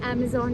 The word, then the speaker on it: Amizon: ये अमेज़ॉन नहीं है, ये अमेज़ॉन है, बट उसको प्रोनाउंस अमेज़ॉन ही बोलते हैं। तो AMIZON, अमेज़ॉन है।